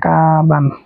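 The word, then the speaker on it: かばん: কাছা কাছা আর এটা কাবান কাবান মানে কি ব্যাগ এই যে কাবান হার হার উপর যদি ডাবল দেন থাকে তাহলে এটা বা উচ্চারণ হবে তাহলে কাবানো কাবান কাবান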